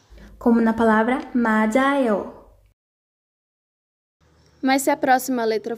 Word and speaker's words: 맞아요: Quando a letra depois deles for uma vogal, tiut continua com o som original, mas tiut vai de tchá para já. Como na palavra 맞아요.